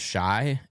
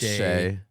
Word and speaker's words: Shea: I mispronounced Shea as Shy, or what? I'm confused. Yeah. Shy. It's Shea.